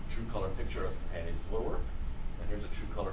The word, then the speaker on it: Voorwerp: Now the Voorwerp, or she told me how to pronounce it, Voorwerp, there's like 4 or 5 syllables in there.